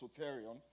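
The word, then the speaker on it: σωτήριον: Because the word salvation comes from a Greek word pronounced soterion.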